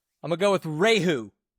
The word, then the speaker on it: Rieju: So yeah, Rieju, that makes the the sound that it looks like it's supposed to make, and then the J makes the H sound.